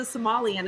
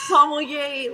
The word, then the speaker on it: sommelier: everybody yeah you know my daughter's a somalian and i'm like dad it's a sommelier like come on i've